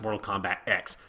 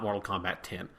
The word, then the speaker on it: Mortal Kombat X: official title was it's supposed to be pronounced mortal kombat x not mortal kombat 10.